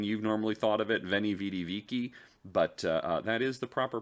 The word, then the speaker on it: Veni, Vidi, Vici: And I know that sounds weirder than you've normally thought of it, Veni, Vidi, Vici, but that is the proper pronunciation for the time period. The V would be pronounced as a W.